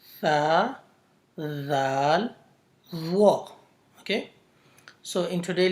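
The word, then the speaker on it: ذ: The next letter is zal, is pronounced from the same place, zal.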